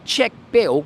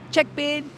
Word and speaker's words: check bin: It's actually check bill, but the L is pronounced an N. So check bill becomes check bin.